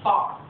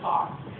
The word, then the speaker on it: fire: It's a story named Tongues of Fire, which where I come from we pronounce far. It is Tongues of Fire.